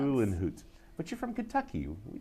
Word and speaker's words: Uhlenhuth: It's Uhlenhuth. Uhlenhuth. Yeah. Okay. But nice and foreign and hard to pronounce. Uhlenhuth.